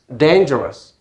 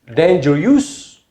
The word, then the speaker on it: dangerous: 16 dangerous dangerous dangerous danger use or dangerous that will be incorrect pronunciation so whenever you see most commonly oh you it gives a kind of schwa sound like dangerous mountainous curious okay but it's not